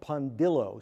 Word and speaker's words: Pondillo: first of all is pondillo spelled as it sounds p n then Dill d i l l like dill pickle then o like I think I